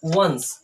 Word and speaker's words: once: ठीक है, तो देखो सबसे पहले लिखा है ONCE, तो इसको हम पढ़ते हैं वंस। क्या बोलते हैं? वंस, क्योंकि लास्ट का ई हमारा साइलेंट रहता है, इसलिए ई को नहीं पढ़ना है।